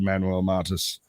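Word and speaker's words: Manuel Mata: you have you a show we just did Manuel mantis am I saying that right say your name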